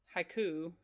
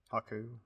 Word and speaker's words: Haku: Um, she wanders off and sees Haiku. Haiku. Haku.